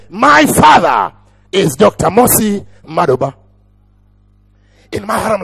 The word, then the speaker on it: Madoba: Because if I pronounce it the Ugandan way, it will sound Maduba. But here, Madoba.